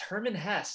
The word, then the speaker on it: Hermann Hesse: It's Hermann Hesse, a German novelist.